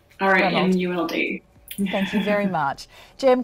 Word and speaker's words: Romuld: having me sage and i hope i'm pronouncing your name correctly yes it's ronald reamuld thank you very much